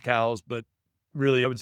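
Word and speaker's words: Coues: Technically, it is pronounced cows, but really I would say 90% of people call them cous deer.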